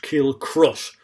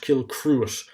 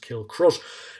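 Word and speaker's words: Kilcruit: episodes gone by but this horse is pronounced kill crush not kill cruise uh or kill cruz uh like some people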